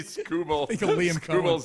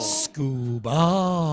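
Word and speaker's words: Skubal: time I see scubal's name, I think of the D Liam Cohen. Scooball. Doo ball. I was saying it wrong. Sorry, Liam Cohen. Scubal.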